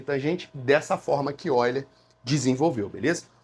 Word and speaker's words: Euler: O nome dele é Oiler, se escreve Euler, né? Alguns chamam, algum professor, talvez se eu já chamou ele de Oiler, outro chamou de Euler.